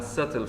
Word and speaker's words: subtle: a mild flavor or a subtle flavor silent b a subtle flavor both